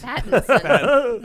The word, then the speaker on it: Pattinson: Pat in Son. Pat in Son? Yes. It sounds dirty when you say it out like that. But that's the phonetically correct Robert way to say Pat in Sons. Pattinson.